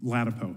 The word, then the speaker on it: Ladapo: No, but how do you pronounce your name? Ladapo.